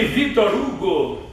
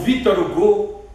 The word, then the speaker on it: Victor Hugo: Estou me lembrando que Victor Hugo, ou Victor Hugo, na pronúncia francesa, disse uma coisa muito interessante, em pouquíssimas palavras: o cérebro procura, mas somente o coração encontra.